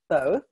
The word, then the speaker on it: Thoth: for the Ascended Master Thoth. Did I pronounce that right, Danielle? There are several ways of pronouncing it, and yes, Thoth is a good one.